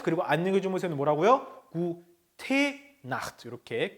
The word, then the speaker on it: Nacht: 자, 끝에 있는 단어가 좀 발음이 거세죠? Nacht. 다시 한번 Nacht 이렇게 하면 Nacht.